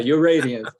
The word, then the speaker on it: Uradiance: And that's URADIANCE. Yeah, just like radiance with a U in front of it. I'm pronouncing that correctly? Yeah, Uradiance.